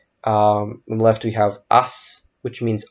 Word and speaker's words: аз: Even though it is spelt with a Z at the end or a Z, we pronounce it like a S.